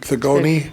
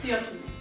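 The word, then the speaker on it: Theogony: A lot of stuff I read I can't pronounce. Uh the Greek uh uh ancient Greek thegoni theogyny.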